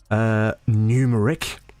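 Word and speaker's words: Gnumeric: Numeric, with a silent G.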